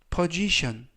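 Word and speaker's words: position: 되겠습니다 이번 는 postion 포지션 포지션이라고 발음하시면 되겠고요 이때 유의하실 점은 S 즈 그리고 끝부분에 있는 ton이네 개의 절자 동시에 션 발음이납니다 그래서 포지션이라고 발음하시면 되겠고요 품사는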